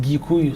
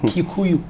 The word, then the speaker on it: Gikuyu: But he was born in one of the rural areas where his ethnic group, sometimes it's pronounced Gikuyu, some people pronounce it Kikuyu.